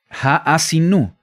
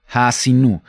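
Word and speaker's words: Ha'azinu: El nombre de la porción en hebreo se pronuncia así como lo tenemos en la fonética, Ha'asinu. Ha'asinu.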